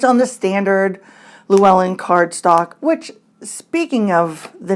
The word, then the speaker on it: Llewellyn: one it was now I actually called Llewellyn lelawin and I think I called it that a couple times and I have absolutely no idea why I called it that I know it's Llewellyn I think because that's how my husband pronounces